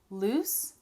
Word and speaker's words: loose: Loose has the S sound, loose, Then we have lose, lose, that's the Z sound.